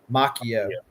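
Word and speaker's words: Macchio: Well, so I've always pronounced it Machio, but I heard Tom DeFalco on an interview the other day say Mchio. M, you know, I would assume since he knows him that's right. But now he was there last year.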